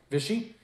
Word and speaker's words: Vichy: Now, for the next 12 months, the Rebbe and his wife were refugees in Vichy, France. I believe I'm pronouncing it correctly. Vichy? Vichy, yeah. Vichy, yeah? Okay, good.